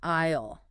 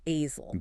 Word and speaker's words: aisle: The aisle by a corridor. And quick pronunciation tip there. It's sounds like an island, not asel.